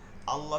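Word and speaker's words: الله: পেশের জায়গায় জের হবে সব কথা এক দেখেন আল্লাহ শব্দের মাঝের লাম এর ডানে ঠিক আছে সঙ্গে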